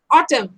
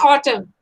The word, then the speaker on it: autumn: it in fast and silent n letter word is autumn this is very common okay autumn I don't know how